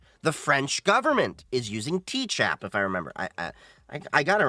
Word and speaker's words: Tchap: Is it TCHAP or CHAP? I think it's just CHAP. The T is silent.